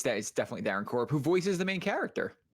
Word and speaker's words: Darren Korb: Okay, it's Darren Korb. I said that, and immediately your face went like this, and I was like, okay, did I say his name wrong? No. It's definitely Darren Korb, who voices the main character.